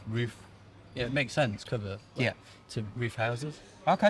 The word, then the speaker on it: Cover: It's Cover. Yeah. Cover. Cool. It's not the end of the world, is it? No. I'm a stickler for pronunciation on names. It's respect at the end of the day. Well, every teacher I've ever had It said cover. cover.